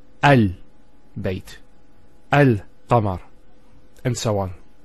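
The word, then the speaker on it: القمر: How do we pronounce this? It's Al-Qamar.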